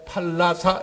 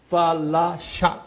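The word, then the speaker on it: Falasha: 사람들이 그 소위 그 솔로몬의 피를 가진 요 사람들을 소위 팔라사 여기 팔라사 제가 팔라사 이렇게도 발음하지만 정확하게는 F 발음이에요. 팔라샤, SHA. 이렇게 부르거든요.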